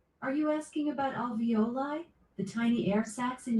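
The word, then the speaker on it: alveoli: into pockets and crevices um in your um avioli Alexa, how do you pronounce that word in your lungs? Avioli airbags. Are you asking about alvoli?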